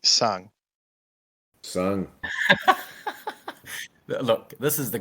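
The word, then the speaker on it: Tseng: Sing is definitely sung.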